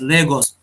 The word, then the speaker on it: Lagos: pronounce this can anyone has visited yeah we pronounce this place as Lagos okay so for Lagos if you have to